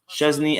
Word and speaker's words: Szczęsny: me that it's pronounced Szczęsny and not the way the other people told you. There is no T sound.